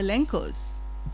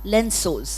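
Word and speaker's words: lenços: Okay, now that you say heart, that reminds me of the Lenkos. Is that how you pronounce it? Lensos. Lensos. Sorry.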